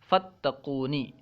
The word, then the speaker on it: فتقونی: کر لکھا گیا ہے، کیونکہ فا کو تا کے ساتھ ملا کر پڑھا جاتا ہے، تلفظ میں فا کو تا کے ساتھ ملا کر ادا کیا جاتا ہے، فتقونی۔ بریکٹ میں